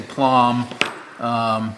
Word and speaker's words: Plomb: So for those that don't know, I'm a little bit of a Plomb junkie, and when I say Plomb, that's how it's spelled, Plomb, not plum. That's a little different.